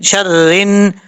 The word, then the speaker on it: شَرِّ: کے پڑھا دیتا ہوں، شین را زبر شر، را نون زیر رن، شر رن، نون فا زبر نف،